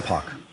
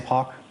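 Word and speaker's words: Poch: Sam Pock. Sam what? Sam Pock. Spell it, please, the last name?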